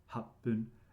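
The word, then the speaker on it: 八分: in roku and hachi, you only pronounce the first syllable and it's with pun, right? So it's ipun 1 minute, roku is ropun, and hachi is hapun, and nana is the only exception with two syllables, it's nanafun.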